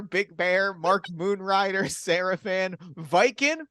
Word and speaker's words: Vykin: Beautiful Dreamer, Big Bear, Mark Moonrider, Seraphan, Viking, which is spelled Vykin, which is not how you expect that to be spelled.